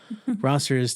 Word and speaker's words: Rossers: So Rossers to kind of rhyme with crossers, but crossers are like, they're people who've already crossed and they go to Ross all the time.